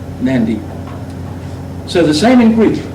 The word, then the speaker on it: Nadi: But that's pronounced in the the Melanesian tongues as nyan like that or nd with the nd, Nadi.